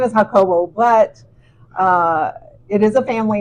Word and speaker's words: Jacobo: His real name is Jacobo. Jacobo. And Jacobo. she said it with Yeah. such a fluency. Uh-huh. I'm going to call him Jacobo. Yeah. So it's spelled Jacob with an O at the end. Yes. Mhm. Yes. And so just like any J name, it has the H sound. Yes. You know, Jose, Jesus. Mhm.